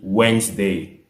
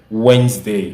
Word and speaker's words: Wednesday: Mais le mot se lit Wednesday. Alors, si vous voulez prononcer ce mot correctement, vous devez dire Wednesday et non Wednesday. Donc, ça se dit Wednesday. On ne prononce pas les lettres du milieu là.